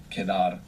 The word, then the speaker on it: quedar: It's quite a flexible verb, quedar. But for now, to Quedar. remain or to be left over. Q-U-E-D-A-R, quedar. And QU in Spanish is always a K sound.